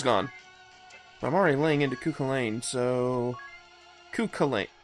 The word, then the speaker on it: Cú Chulainn: I'm already laying into cuca Lane so Keuka Lake ku ku ku Lane there we go ch is silent for some reason oh but I'm not